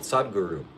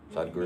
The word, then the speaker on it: Sadhguru: The picture behind me is a man called Sadhguru.